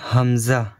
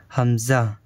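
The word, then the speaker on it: ء: এটা হচ্ছে হামজা, এটাতে একটু টান হবে না, নরম আওয়াজে তাড়াতাড়ি হামজা।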